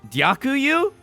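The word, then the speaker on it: дякую: Privet I dyakuyu. How's my pronunciation?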